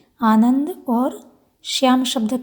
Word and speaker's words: श्याम: ध्यान रहे तालव्य शकार का उच्चारण करना है श्याम। तालु को जिभ छुआते हुए बोलेंगे।